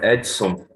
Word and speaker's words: Edson: Wedson or Whitson? It's correct pronunciation. Edson.